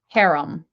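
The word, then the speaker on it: harem: Um, this is how it's pronounced, haram.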